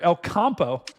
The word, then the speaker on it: El Campo: Further to the south, we've got this storm down near El Campo, or Campo. What, Dan, did I pronounce that right?